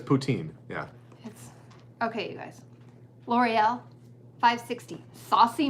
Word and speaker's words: poutine: York I would think they say Putin is how they would say it properly potato but there's poutine yeah okay L'Oreal 560